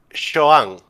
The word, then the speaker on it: Xoan: Joan, muy Joan. fuerte la X.